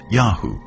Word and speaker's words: YHW: shastu lived is called yhw probably pronounced yahu likely the name of